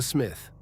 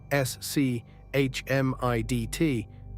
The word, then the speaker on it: Schmidt: Nine, Schmidt, the smith. The second most common surname in the country. How you say it? It looks terrifying, s c h m i d t, but it's simple, Schmidt. No, Smith.